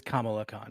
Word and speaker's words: Kamala Khan: great quick correction on myself uh it is kamala khan it is the the same as the vice it is pronounced yeah noted yeah i didn't wanted to